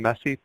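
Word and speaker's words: MESI: and this will be abbreviated or pronounced often messy protocol each of the four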